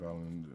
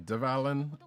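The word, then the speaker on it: Dvalin: The reason why I'm not saying Devalen, because I know that's what they say, because I hate the it's a weird pronunciation when they do it in the English, and I'm like, you know what? I'm just gonna keep the D silent. The D is silent, silent D, like Letterman.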